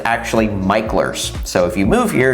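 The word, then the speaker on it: Mickler: landing by the way it looks like it's pronounced MERS but it's actually micher so if you move here and you want to sound like a local definitely call it micher speech but anyway so to get there would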